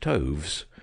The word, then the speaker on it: toves: as in rise and Toves is pronounced so as to rhyme with groves again the first Oh